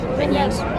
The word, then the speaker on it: beignets: Beignets.